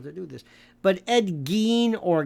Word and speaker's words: Gein: But Ed Gein, or Gein, depending upon how you pronounce it, is, one of the inspirations for the movie Silence of the Lambs.